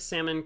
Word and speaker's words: salmon: A smoked salmon cream cheese bagel?